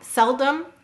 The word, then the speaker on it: seldom: has two vowels and you'll notice the first syllable cell is said very clearly you hear the e but that second syllable Dum seldom you hear an a sound you're not articulating the vowel clearly cell is stressed dumb is unstressed the way we help